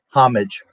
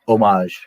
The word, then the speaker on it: homage: the ugly uh Mandalorian I guess you mean omage hom like home H AG g e omage homage Americans say which isn't wrong but omage is the proper H AG G it's